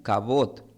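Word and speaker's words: כבוד: Pero esta palabra tiene una raíz con la palabra hebrea también que es gloria, pero gloria se pronuncia como cabot. Solamente se cambia la a es cabat cabot, pero honraré y gloria e en la raíz hebrea indica valorar, respetar, dar dar gloria y peso.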